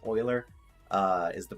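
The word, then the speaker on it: Euler: I always call this uler it's not uler it's Oiler uh is the pronunciation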